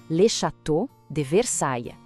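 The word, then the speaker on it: Château de Versailles: Vamos com calma na pronúncia. Lecható de Versaia.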